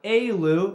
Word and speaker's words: Alew: We're here with Lewis, or Alew. Is that how you pronounce it?